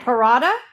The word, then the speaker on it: Parada: And is it paratha? Yeah. Malive verda. I I butchered it in the intro and I I